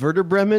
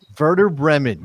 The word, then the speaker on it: Werder Bremen: beggin beggin chains right Werder Bremen you just like saying I'll be used like v's I think it's probably part of that Buddha Bremen Dave Redmon it's a W but it's pronounced verdict no honestly if